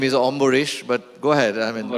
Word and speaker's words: Ambarish: you said another very interesting how am I pronouncing your name right my name is my name is omish but go ahead I mean I can understand